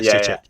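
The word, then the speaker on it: Souček: Is that how you pronounce his name? Soucek. Yeah, Soucek.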